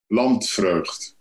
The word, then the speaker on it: Landvreugd: Landvreugd. But I know it's an impossible name to pronounce, yeah, if you're not a native speaker. So, Landvreugd. Land, vreu, and then gd. Landvreugd.